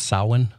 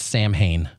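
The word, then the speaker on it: Samhain: the event that U led to Halloween is pronounced sa yes not Sam Hayne yes please please pronounce it properly oh I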